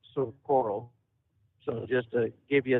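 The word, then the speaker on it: Socorro: New Mexico Community correctly it is pronounced sort of coral so just to give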